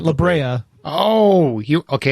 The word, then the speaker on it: La Brea: stuff right just stop not labrae that labrea oh you okay it's